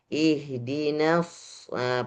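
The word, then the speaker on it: اهدنا الصراط: Maka kebanyakan keliru orang Indonesia itu kalau baca shad itu pasti monyong. Ihdinasah pasti main bibirnya. Padahal tidak ada tidak ada pengaruh dengan bibir.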